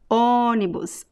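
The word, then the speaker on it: ônibus: we have it's uh it's closed but it's also nasal onibus okay so let's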